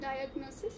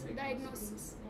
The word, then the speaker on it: diagnosis: word again diagnosis right not diagnosis it's diagnosis the stress is on n diagnosis right and last